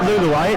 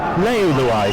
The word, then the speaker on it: Leuluai: He said it's not Luluai, it's Leuluai, so henceforth it is.